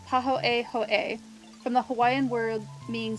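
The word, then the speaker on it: pāhoehoe: So, so this is they even give a pronunciation paho a hoe which even sounds swirly when you say it out loud.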